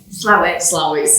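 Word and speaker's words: Slaithwaite: going to say we're in the village of slathwaite angela will probably pronounce it correctly flowex yes it's your yeah i mean um i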